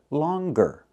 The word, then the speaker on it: longer: But with the word longer, we pronounce the G longer.